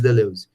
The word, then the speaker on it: Deleuze: Vocês vão ver falar muito sobre Gilles Deleuze. Eu acho bonitinho, assim, né, que você vai fechando a boquinha para falar Deleuze, né, vai ficando...